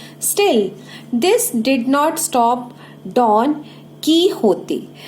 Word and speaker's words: Don Quixote: Still this did not stop डॉन कीहोते. We will pronounce it डॉन कीहोते.